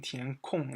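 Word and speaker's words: 填空: The original pronunciation here is kong first one, and this one tian kong is fourth one.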